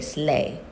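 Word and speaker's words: sleigh: and I will let circle slay and get rid of the gh and say slay gh no sound.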